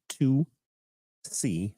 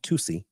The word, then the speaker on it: Tusi: Known to buyers as Tusi, pronounced 2C, like two and the letter C, Tusi, and by the media and police known as pink cocaine, even though it contains no cocaine.